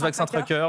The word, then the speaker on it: Vaccin Tracker: Je ne sais pas si on le prononce à la française ou à l'américaine. Moi, je prononce Vaccin Tracker, mais vous pouvez le prononcer comme vous voulez.